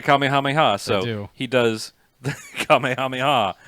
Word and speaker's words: Kamehameha: yeah II the kamehameha that I've been informed is should be pronounced Kamehameha they don't know it we don't say it that way they say it caught me how many ha so he does the